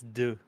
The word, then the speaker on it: deux: It's deux.